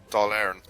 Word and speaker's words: Dáil Éireann: Oh, the Dáil, yeah, Dáil Éireann. Dáil Éireann, yeah, Dáil Éireann.